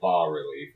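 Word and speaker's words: bas-relief: No, it's one S, not two. It's pronounced a bas relief. It's Oh, for fuck's sake. Yeah. bass relief.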